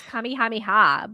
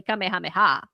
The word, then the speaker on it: kamehameha: I don't even Maybe in English it's kamihameha, but in Spanish it's definitely kamehameha with no accent. No. No. No. no accent.